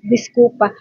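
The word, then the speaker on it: desculpa: Ginada disculp pero discpa 'yan pagka-pronounce niyan guys. Discupa at 'yung parang sorry parang I'm very sorry is sinoy so dito naman tayo sa concensa.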